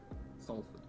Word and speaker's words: Salford: do you pronounce it salford saleswood it's really quick we're annoying and don't pronounce the whole soul why yeah anything else